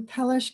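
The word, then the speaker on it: Peleș: make our way to pelish castle the little s under the s is pronounced as sh so it'd be pelish castle and this was built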